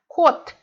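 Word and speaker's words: 꽃: So we have kot. We see that this ch letter, but we read it like t.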